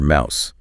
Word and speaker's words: mouse: And the thing you move with your hand, that's your mouse, like house or now.